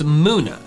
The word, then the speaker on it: Munna: Its name comes from the Japanese word mu, which means dream, and Luna. Therefore, the pronunciation Muna makes perfect sense. I think I just called it Muna because I was like, oh, it looks like a Bubba, but with different letters. So I'm gonna try to switch to Muna.